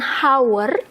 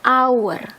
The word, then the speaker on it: hour: ketika kita baca ini kita bacanya bukan How tapi kita bacanya hour our nah kedengarannya kan a